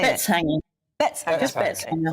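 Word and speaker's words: Betteshanger: Just Bettishanger.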